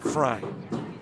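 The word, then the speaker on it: Frey: His last name spelled F R E Y and he pronounced it Fry.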